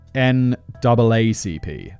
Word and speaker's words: NAACP: naacp note to simon always pronounce america's n-double-a-c-p oh okay naacp sorry